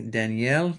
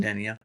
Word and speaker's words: Danielle: Um this month, he's his name is Giovani Danielle, and you know, it's Daniel, but they pronounce it Danielle.